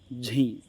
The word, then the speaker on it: झ: अपन बोलते हैं घे। दोस्तों ये गलत है, इसका सही उच्चारण क्या होगा दोस्तों? इसका सही उच्चारण होगा झी, क्योंकि दोस्तों जय प्लस ये